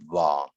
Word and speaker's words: 黃: 念 V，然后黄昏的黄要念 wang，然后别离的别要念撇。